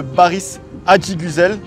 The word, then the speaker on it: Baris Adiguzel: Solide comme Solide Mike les amis en compagnie de Baris Adigusel. Est-ce que je l'ai bien prononcé ? Très bien prononcé.